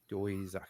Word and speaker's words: Doizaki: How do you pronounce it? Doizaki.